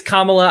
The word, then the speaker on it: Kamala: both just as bad my apologies for the mispronunciation i know some people do that to like be racist but i did that on it it's kamala i i was yeah no